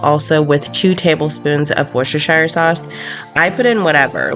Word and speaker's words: Worcestershire: want and just so you know it is worcestershire sauce um I think it's so funny when I see people mispronounce it drives me crazy but I used